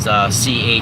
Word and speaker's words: Chartres: One especially is the Chartres Cathedral. It's spelled C-H-A-R-T-R-E-S, but it's kind of pronounced like a shit fart, like Chartres.